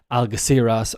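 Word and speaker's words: Algeciras: Costa Del Sol in algeethiras if I got that uh pronounced correctly but in English of course of course we'll say algaciras or something a man injured four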